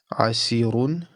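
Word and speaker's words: عسير: And because it's preceded by a kasra, it will be pronounced with an empty mouth. So this will be pronounced asir, asir.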